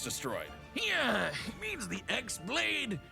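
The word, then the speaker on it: χ-blade: yeah it means the x-blade it's just pronounced like keyblade even though it's just one keyblade ah the series is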